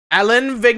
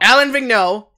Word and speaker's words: Alain Vigneault: either so I'm pretty sure they don't ah Allan Vig no think now god I even forgot to remember how to pronounce it it's too long ago Alain Vigneault well Haslem assigned as the Philadelphia Flyers new